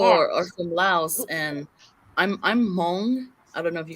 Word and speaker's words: Hmong: See, You see how my people are from Laos, and I'm Hmong. I don't know if you guys are familiar with that. It's spelled HMONG.